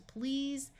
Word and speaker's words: please: short I sound pretty EA will have its usual long e sound and the S will say Z so this is please and r a r